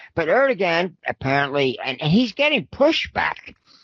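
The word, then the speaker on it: Erdoğan: right first of all the way the turks pronounce that uh that g in there it's really it's it's almost as a w sound error to one is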